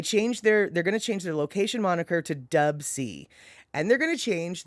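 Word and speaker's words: Dubsea: And then it's spelled D-U-B-S-E-A, Dub C.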